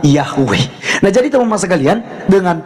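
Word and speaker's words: Yahweh: y he W he yang kita kenal sebagai yahu ya kita bacanya sebutnya yahwe Nah jadi teman-teman sekalian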